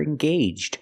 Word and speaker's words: engaged: to get married they're engaged they're engaged to be married the AG G makes a long a sound engaged let's practice are they